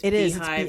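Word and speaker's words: Beehiiv: It's beehive. It's called Beehive. Be e h i v. So it's spelled with instead of h iv it's h i iv.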